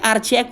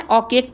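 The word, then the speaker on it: archaic: Word देखो क्या है, हम क्या पढ़ते हैं, आर्चैक पढ़ते हैं। हिंदी वर्ड वाले हमको तो आर रहे जो रहे, मुझे साइलेंट नहीं पता चलता, मैं अपनी भी बात करूं। लेकिन आपको क्या पढ़ना है, औकेक पढ़ना है, इसको औकेक पढ़ते हैं।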